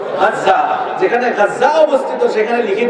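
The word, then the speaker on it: غزة: বর্তমানে যেখানে গাজ্জা অবস্থিত আপনারা গাজ্জা বলেন আরবিতে উচ্চারণ হলো গাজ্জা যেখানে গাজ্জা অবস্থিত সেখানে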